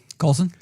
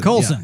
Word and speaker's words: Coulson: a little CG-ish on what's his name, Agent Paulson? What's his name? What is Coulson? Coulson.